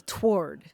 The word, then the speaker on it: toward: it like it's written they pronounce the W it's two syllables not one you know I think I grew up saying it one syllable toward with the w so